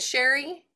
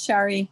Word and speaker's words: Shari: And do you pronounce it Sherry? It's Shari. Shari. Sorry. Okay. Shari. So if you forget, just say sorry, Shari.